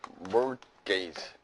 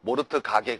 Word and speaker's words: mortgage: 이건 뭐냐면 mortgage. T가 묵음이에요. T가. 알겠죠? 모르트 가게 그러지 말고, 알겠어요, 여러분?